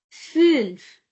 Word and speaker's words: fünf: Number 5 is called fünf, fünf. If we skip these umlauts, then it will sound somewhat as fünf, fünf.